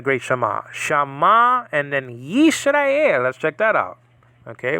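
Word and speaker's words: יִשְׂרָאֵל: But it's really Yisrael, and that's just a deal. So three syllables there, Yisrael.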